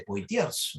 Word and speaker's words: Poitiers: eligen la batalla de poitiers no se pronuncia por ti como a ti pero su hijo pipino